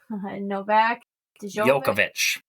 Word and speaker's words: Novak Djokovic: And then category D, you have Katie Ledecky, Novak Djokovic.